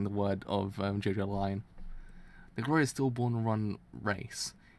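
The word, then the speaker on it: Jojolion: But now I actually know it's JoJo Lion or something kind of in that way.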